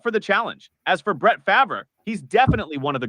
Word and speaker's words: Brett Favre: Brett Favre, that's how you say it, Brett Favre, but it's all good.